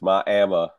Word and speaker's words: Miami: Miami Arizona yeah it's my AMA it's Miami it as opposed to that place in Florida yeah it's not Miami